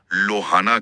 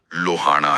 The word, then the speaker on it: लोहाणा: इसे हिंदी भाषी अक्सर लोहाना कह देते हैं। लेकिन सही सिंधी उच्चारण लोहाना है। लोहाना। हां। जिसमें ण का स्पष्ट और भारी स्वर आता है।